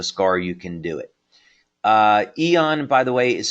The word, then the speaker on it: Aeon: Aeon, by the way, is spelled A-E-O-N, and yes, that's a patch that you can find on our website.